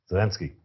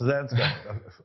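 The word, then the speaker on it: Zelenko: Zalinski. Zilinsko. No, hold on. I definitely got his name wrong. I hope it's not Zilinski. No, it's Zilinsko.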